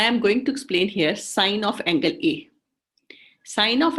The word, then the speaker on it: sin: to p by s we pronounce it as sine but it is s i n sine a is equal